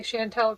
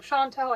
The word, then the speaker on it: Chantel: Up until this video, I was pronouncing her name wrong. I was saying Chantel. I did not know that her name was pronounced Chantel until I heard her herself pronounce it in one of her videos.